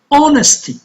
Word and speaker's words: honesty: be only one letter honesty honesty initial H is silent no no the initial